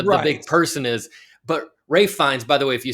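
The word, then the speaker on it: Ralph Fiennes: But Ray Fines, by the way, if you see his name, it looks like Ralph Fennis. It's pronounced Rafe Fines.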